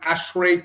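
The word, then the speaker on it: ASHRAE: Um this award, they they they I call it Ashray Technology Award. Is that the right pronunciation?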